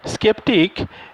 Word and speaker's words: sceptic: সেপটিক, স্কেপটিক, স্কেপটিক মানে কি, স্কেপটিক এটা হচ্ছে একটা আমেরিকান ইংলিশ, ঠিক আছে? আমেরিকানরা এটাকে যে প্রোনাউন্স করে সেটাকে বলা হয় স্কেপটিক, SKEPTIC, এটা তারা প্রোনাউন্স করে, কিন্তু স্পেলিংটা হচ্ছে SCEPTIC, এটা হচ্ছে স্কেপটিক।